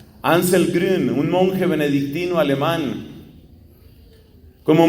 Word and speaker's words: Grün: Este hombre se llama Anselmo, su apellido es Grun, pero se pronuncia Grün, G-R-U-N, la U lleva diéresis. Ansel Grün, un monje benedictino alemán.